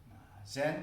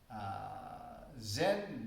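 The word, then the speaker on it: 禅: Zen pronunciation is Japanese. So when the Buddhism was introduced about 200 years ago or 300 years ago, Japanese Buddhism was spread. So Zen Buddhism is Zen pronunciation. Actually, the Chinese pronunciation is Chan. So in China, it is called Chan Buddhism. In Korea is Sun Buddhism. Or in Korean, Sun Bulgyo. So Sun, Chan, Zen is the same pronunciation.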